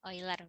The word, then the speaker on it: Euler: Euler bacanya.